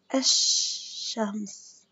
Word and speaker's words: الشمس: بس عشان الشدة كتير حامية ما بنقدر نرفض الأل، نكتبها بس ما بنرفضها. شوفوا كيف الشمس الشمس.